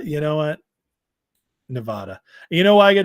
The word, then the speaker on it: Nevada: up my pronunciation of Nevada it's not Nevada it's Nevada Nevada Nevada I like